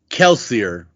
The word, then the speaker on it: Kelsier: This is going to be Kelsier, which is more than Kelsey.